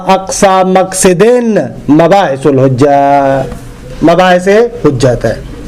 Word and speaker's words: مقصد: ہم لوگ مقصد پڑھتے ہیں، شاید درست لفظ مقصد ہے، قصد یقصدو ہے نا، تو ظاہر سی بات ہے کہ اس سے بنے گا مقصد، لیکن مشہور ہے مقصد.